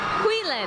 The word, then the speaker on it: Huilen: How do you pronounce it? Huilen.